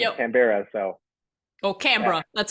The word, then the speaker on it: Canberra: So Or yeah, Canberra. That's how you pronounce it.